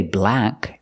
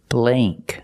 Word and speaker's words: blank: and this word blank we don't say black it's blay blank use the long a sound example this is a